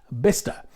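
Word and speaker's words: Bicester: from the UK then this place is spelled like this but it's pronounced bister so if you're driving along the M40 and you happen to see a brown Leisure sign for bister Village then it's a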